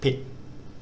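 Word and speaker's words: ปิด: what we've got is the initial consonant is that sort of cross between a b and a p uh the i vowel and the final consonant is the unreleased t and it's pronounced something like pit it's a very a very short sound and it means closed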